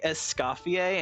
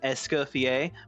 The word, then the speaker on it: Escoffier: Why did they say Escoffier instead of Escoffier, but then they say Fleuve Cendre? Be consistent. If you're going to pronounce it in French, pronounce everything in French.